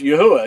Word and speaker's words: Yahweh: it and he'll reveal that his name is Yahweh and you'll know that that's how his name is pronounced and it's important for us to tell